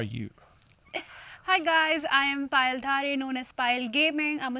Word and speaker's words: Payal Dhare: Hello, Payal Dhare.